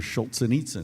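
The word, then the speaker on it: Solzhenitsyn: Jordan Peterson talks about all the time they're Schultz and Itza yes I'm so glad you could pronounce his name because I was just gonna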